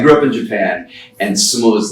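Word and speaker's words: 相撲: So in English it's S-U-M-O, but in Japanese it's actually 3 syllables. It's su-mo-u, and put together it's sumo. So the last part gets elongated, so it's sumo as opposed to sumo.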